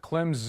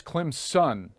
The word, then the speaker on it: Clemson: Clemson fans are like it's not Clem's in its Clem's son I'm like really like